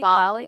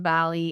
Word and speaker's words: Bali: So speaking of fun experiences and embodying this, let's talk about, is it Bali? Bali? I always say it wrong. Bali. Bali. Bali. Bali? I think we can say it either way.